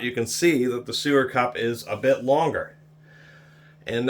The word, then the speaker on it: SuerCup: This is almost exactly the same as the Vampo I reviewed earlier, except for this SuerCup, which I thought said SuperCup.